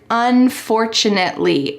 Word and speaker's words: unfortunately: Let's talk about this word, unfortunately. It's quite a long word, so let's break it down so that you can pronounce it as accurately as possible.